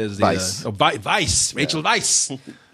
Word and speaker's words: Weisz: Rachel Weisz, as I said, is the Weisz. Rachel Weisz. Say it like a Nazi. Rachel Weisz. There's no V in that name.